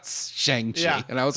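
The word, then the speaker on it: Shang-Chi: day and was like Dad it's uh shangi not sang not shangi and I was like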